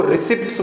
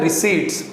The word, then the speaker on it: receipts: देखो, बहुत से बच्चे जो हैं इसको रिसिप्ट्स बोलते हैं, रिसिप्ट्स। ये रिसिप्ट्स नहीं होता, ये होता है रिसीट्स। पी इसमें जो है वो साइलेंट होता है, तो ध्यान रखना क्या बोलेंगे इसको, रिसीट्स।